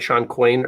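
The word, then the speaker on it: Shawn Coyne: is years ago but I think Sean right Shan quain or am I mispronouncing that's right so you having a conversation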